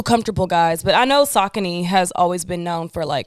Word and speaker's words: Saucony: all she kept on her feet was them Sauconys, bro. And she would always love to correct people when they would say it wrong, when they would be like, Saucony.